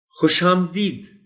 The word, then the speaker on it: خوش آمدید: شروع کر دیں گے۔ خوش آمدید، خوش آمدید بعض اوقات پڑھ دیا جاتا ہے، درست تلفظ اس لفظ کا ہے خوش آمدید۔